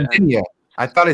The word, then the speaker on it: Sanzinia: Sanzina. Can you tell me how to? Sanzinia. You said it right. Sanzinia.